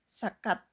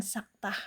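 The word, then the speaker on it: سكتة: yaitu dengan sakat e maksudnya dengan saktah bacanya ya. Ee jadi diterjemahkan jangan sakat tapi saktah ya.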